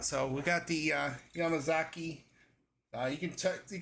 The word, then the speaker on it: Yamazaki: uh sounds like the yamazaki um yamazaki means Mountain promonitor uh in Japanese it's also a Japanese surname um in this also says it's yamasaki in Western Japan so uh let's try